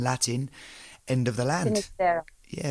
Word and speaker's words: Finisterra: world, and so termed Finisterra in Latin, end of the land. Finisterra. Yeah, Finisterra. Right. Is that how you say it in Spanish? Finisterra is how you say it in Spanish.